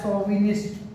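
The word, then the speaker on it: chauvinist: तो देखिए इसको सौ पढ़ा जा रहा है, सोविनिस्ट। सोविनिस्ट में ये एक फ्रांसीसी वर्ड है।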